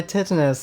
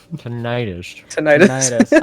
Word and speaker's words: tinnitus: see the ringing my tetanus is now all right yeah that's that's ears why do you say it like that uh properly tinnitus yeah I thought